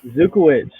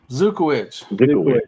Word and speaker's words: Zukywich: So how do you pronounce your last name, Quintin? Zukywich. Zukywich.